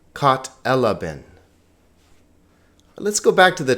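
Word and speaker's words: κατέλαβεν: Kat elaben. Not katalaben, not katalaben, not katalaben, but kat elaben.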